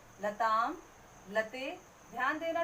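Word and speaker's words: लताम्: नीचे देखिए लताम मीन्स आम, इसका उच्चारण हो रहा है आ की मात्रा का और माँ का, आधा माँ लगेगा। लताम, लते।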